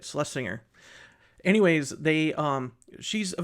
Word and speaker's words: Slesinger: I always say her name wrong. Slesinger, Slesinger, whatever. Slesing Celeles Singer, that's how you say it. Slesinger.